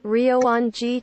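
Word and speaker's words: Ryōan-ji: Ryoanji Temple Yes. Ryoanji Temple Ryoanji Temple Ryoanji Temple Temple. Okay? That is the correct pronunciation for Ryoanji Temple or Ryoanji Ji.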